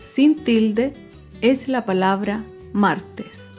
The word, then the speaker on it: martes: Por último, otro ejemplo de palabra grave sin tilde es la palabra martes. Martes se acentúa en la penúltima sílaba, pero no lleva tilde porque termina en S.